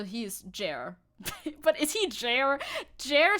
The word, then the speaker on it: Jair: Jair. Not chair. Jair.